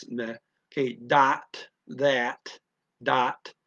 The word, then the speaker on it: dat: Again, they don't have a th, and the is a standard European pronunciation of an a ah. So instead of that, it comes out dot dot. Change the th to a d dot.